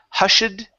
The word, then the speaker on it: hushed: Uh, next is uh hushed here instead of hushed. Okay. Ed ending. Hushed with a t.